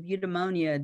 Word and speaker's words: eudaimonia: And the concept, and this is how you say it, eudaimonic, the concept of eudaimonia dates back to the 4th century.